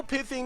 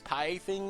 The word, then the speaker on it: pithing: Or also no pithing needles to mispronounce as pie-thing needle. I didn't even know that was wrong for a long time. I always said pie-thing needle.